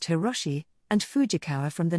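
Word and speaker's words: Hiroshi: fake name he took a Japanese character from the term World Expo which could be pronounced hirosi and fujikawa from the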